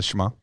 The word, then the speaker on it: Shema: And when I was in group, we had that concept taught as, hold on, let me see if Shema? Yeah. Did I say it right? Yeah, the Shema.